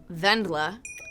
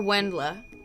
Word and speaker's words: Wendla: I think it's pronounced Vendla or Wendla. I'm pretty sure.